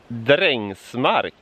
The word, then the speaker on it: Drängsmark: This town is pronounced Drängsmark, and that kind of means farm workers' land.